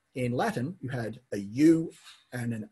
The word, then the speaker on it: ua: Yep, because the H wasn't pronounced. It was ua.